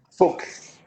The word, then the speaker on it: Fuchs: Estoy conversando con Christian Fuchs, ¿cómo lo pronuncio? Fuchs. Fuchs, que es artista visual peruano-chileno, ¿sí?